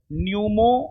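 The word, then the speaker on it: pneumo: हां हां हां हां ठीक हो नहीं जी यहां पर जो है ना नहीं सुनिए पी साइलेंट है human Meta न्यूमो virus P silent है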